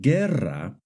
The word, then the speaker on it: guerra: For example, in the word guerra and guineo, the U is silent.